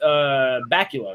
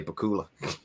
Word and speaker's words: Bakula: That's the one with Bakula, right? Or however you say his name. Bakula, yeah. Okay. Bakula like Dracula, yeah.